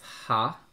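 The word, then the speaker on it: は: So even though this is ha, you'll also hear it pronounced wa, depending on the word.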